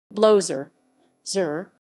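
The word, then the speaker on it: blowser: and three blown saves blowzer zur rhymes with closer a closer who seems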